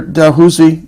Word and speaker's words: Dalhousie: This year Dalhousie, if I pronounce that right. Dalhousie, yeah.